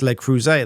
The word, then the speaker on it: Le Creuset: And Megyn confirms, yes, Le Creuset, that's how you pronounce it.